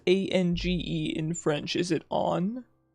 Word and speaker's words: Ange: an on is nasal and the G sounds like J. Okay, so it's Ange? Okay, there's two ways. Oh, it can be pronounced Ange like the eng in engine? I'm getting so many answers. And the J sounds like the J in jump.